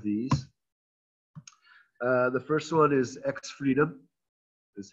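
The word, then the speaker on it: X3DOM: The first one is X-Freedom, is how it's pronounced.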